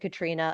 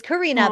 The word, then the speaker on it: Karina: I never had it written as Katrina, but I probably, knowing me, I probably said Katrina a time. She told me the correct pronunciation. Yeah, for her name is Karina, but she prefers to